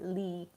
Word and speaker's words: Lee: I was calling him E because that's how we say his name in Japanese, but Lee Jae-myung.